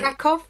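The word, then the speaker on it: Kraków: sorry I think it's krackov I think it's krackov oh yeah the W's are v's and but again not a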